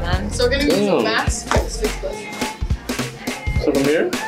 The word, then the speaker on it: MAC: So we're going to be using Max. Fix Plus. Did you even say it right? Yeah, oh. It's Mac, but then you need an X.